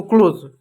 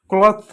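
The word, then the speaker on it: clothes: ज है तो क्लोज होता है जिसमें इ एस लगता है ना तो ये बहुवचन हो जाता है।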